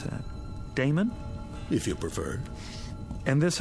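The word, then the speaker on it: Daemon: a e m o n how do you pronounce that Damon if you preferred and this address I guess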